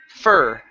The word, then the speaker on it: fur: F instead of f pronounce a word like fur like her okay so imagine the word her but just replace the H with an F fur hello hello Ken I